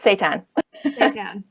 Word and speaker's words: seitan: common ones tofu tempeh seitan which i swear i'm never ever pronouncing right um that's right say tan um it sounds like